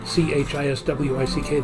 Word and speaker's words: Chiswick: In a word like Chiswick. They don't pronounce the W.